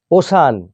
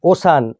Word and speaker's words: ocean: ওশান, OCEAN, ওশান, ওশান মানে মহাসাগর। তাহলে দেখো প্রথমটিতে সি এর পরে আই এ আছে এবং দ্বিতীয়টিতে সি এর পরে ই এ আছে। দুই ক্ষেত্রেই আমাদের উচ্চারণ হচ্ছে তালবস্যয়ের মতো।